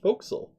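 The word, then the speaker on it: forecastle: which is spelled like four castle is actually pronounced foxel what's that i said folks will say the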